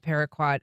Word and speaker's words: paraquat: I mean people have known for decades that paraquat is and I think I'm saying that right.